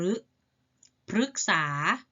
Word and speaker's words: พฤกษา: คฤหาสน์ ออก เสียง รึ พฤกษา ออก เสียง รึ วิกฤต ตัว รึ ออก